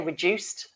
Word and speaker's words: reduced: Now remember, again, with pronunciation, we wouldn't say, rather, let me say, we say reduced. Make sure you say that with a smooth ending, reduced pay.